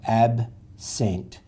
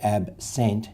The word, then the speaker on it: absent: that it's weak so we don't really say AB sent we say absent so the second syllable